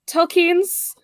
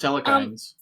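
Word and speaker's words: Telchines: Telkines. Telkines. I thought it was telekines.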